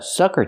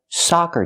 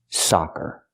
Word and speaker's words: soccer: and they're pronounced differently it's not a sucker team it's a soccer team for soccer we need the open Sound ah like hot and stop saw soccer you can join a